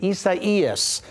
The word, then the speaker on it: Isaias: Tropical storm, a strange or different pronunciation. Isaias is the way this is pronounced.